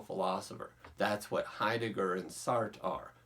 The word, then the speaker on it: Sartre: Now, first, we are going to pronounce his name as simply Sartre.